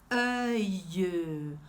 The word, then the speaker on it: œil: O olho a gente diz œil. Olha a minha boca aqui, como é que eu pronuncio? Œil. Tem que fazer esse formato de boca, porque a pronúncia é biológica, sabia?